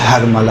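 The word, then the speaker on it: حرملہ: یقینی طور پہ ہرملہ۔ دیکھیں اصل تلفظ ہرملہ ہے، جسے ہم لوگ اپنی زبان میں ہرملہ کہتے ہیں، صحیح؟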